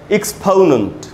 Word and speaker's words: exponent: अच्छा मैं यहाँ पव क्यों लिख रहा हूँ, PO को मैं लिख रहा हूँ पव, पो नहीं लिख रहा, क्यों? क्योंकि जिसको हम ओ समझते हैं, ओ ऐसा हमको बचपन से सिखाया गया, MNOP, तो एक्चुअली उसका उच्चारण ओ नहीं होता, उसका उच्चारण होता है आधा अ और छोटा उ, अ, इसलिए इसको कहा गया एक्सपोनेंट।